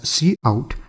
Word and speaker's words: cout: And then secondly, we have cout which we pronounce as see-out and it stands for console output, and this is the standard output object.